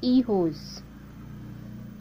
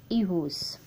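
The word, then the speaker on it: hijos: e hose so one miss e hoes it is silent h i j o s e hoes john miss e hoes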